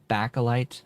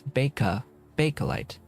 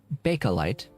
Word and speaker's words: Bakelite: of these days, because I've just been calling it Bakelite. No, it's Bakelite. I was sort of close. Just it's bay and not ba. So Bakelite, is a bit of a long chemical name.